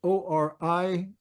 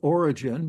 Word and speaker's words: Origen: Another reason mentioned by Origen, that's O-R-I-G-E-N. Some people pronounce that wrong as Origen, but it's Origen, just like he was an Irishman.